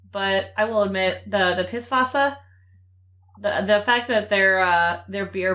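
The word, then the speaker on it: Pißwasser: of the character is when you spell that in German, but it's pronounced like an S, so it's Pisswasser, and it's just like a funny joke, because it's a beer joke.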